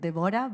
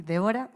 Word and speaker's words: Debora: People pronounce it Debora, but it's actually Debora.